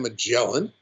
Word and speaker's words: Magellan: area of chile was ferdinand magellan which is the english pronunciation of his name you'll find it pronunciated slightly different in portugal as well as in chile he sailed the victoria